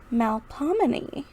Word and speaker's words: Melpomene: So let's copy and see how to pronounce Melpomene. Melpomene.